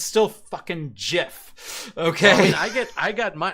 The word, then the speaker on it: GIF: There's two different ways of spelling it, and it's still pronounced with a J, right?